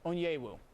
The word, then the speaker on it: Onyewu: the usa world cup team at you oguchi onyewu oh wow i plead total ignorance i know